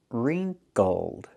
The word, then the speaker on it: wrinkled: Pronunciation, wrinkled.